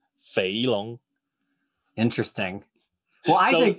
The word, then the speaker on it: Feilong: Feilong. And then pronounce it like fat dragon. Feilong.